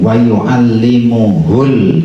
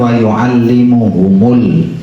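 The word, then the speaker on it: ويعلمه: Wauallimuhul kitaba wal hikmah. Bukan wauallimuhumul. Enggak ada mimnya ya.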